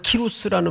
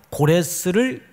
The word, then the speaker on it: 키루스: 여기서 말하는 키루스라는 말은 고레스를 키루스라고도 부릅니다. 고레스의 다른 발음이에요.